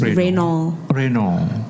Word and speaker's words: Reynolds: Okay, nama saya Reynolds. Selalu orang tak dapat sebut Reynolds tu. Dia orang sebut apa? Reynolds. Oh. Sebab actually the D is silent lah, so it's Reynolds.